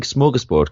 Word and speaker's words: smorgasbord: I am good, thank you, and well done for pronouncing smorgasbord correctly as well.